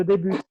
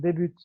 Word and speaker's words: débute: Tu vas prononcer le T quand tu auras la lettre E. Dans ce cas-là, tu dirais je débute. Par exemple, débute. Quand c'est le verbe, non?